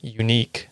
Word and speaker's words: Younique: For example, the cosmetic MLM Unique, which is spelled in the dumbest way.